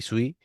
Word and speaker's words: suis: Eh, como siempre, aquí están eh Nabuna y y y Sui, eh, o Su, no me acuerdo. Creo que se se pronunciaba sui.